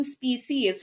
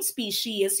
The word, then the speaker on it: species: belong to the same species or same species you can pronounce this as species or species pero uh it would always end with the es no la potayon specie